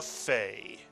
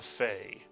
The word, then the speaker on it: Fay: And lo and behold, when you take the dagesh out of the Pay, it is pronounced as the English letter F, and we tend to call this Pay a Fay.